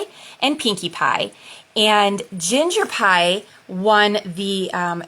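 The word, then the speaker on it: Pye: Their last name is Pie, which she kind of does like a play on words, where she says, "Oh, we're the Pies," but it's spelled P-Y-E, and it's like a whole thing.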